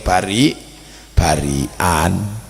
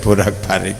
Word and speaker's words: barak-barik: Itulah mengapa sebagian orang menyebut makanan itu, tumpeng, sebagai 'Bari-barian'. Namun aslinya, pengucapannya adalah 'Barak-barik'. 'Barak-barik' seperti itu.